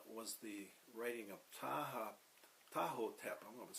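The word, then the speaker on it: Ptahhotep: of them uh was the writing of taha tahoe tap i'm going to spell that for you the instruction of tahoe that's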